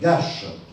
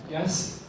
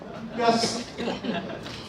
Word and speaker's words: Ghass: Vous comprendrez que mes premiers mots soient à l'intention de l'artiste Gache, pour lui dire... Gasse. Il y a un débat d'ailleurs sur la prononciation. Comment est-ce qu'on prononce? Gasse. Gasse.